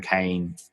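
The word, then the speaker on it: Cain: the university in Arkham and yes it's Dan Kane even though it's spelled differently there's Bob Kane with Batman who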